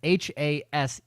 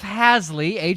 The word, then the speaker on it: Haseley: the Fantasy 5, at Haseley, that's Haseley for those. Haseley. It's spelled Haseley. It's pronounced It's spelled Haseley. Haseley, Haseley.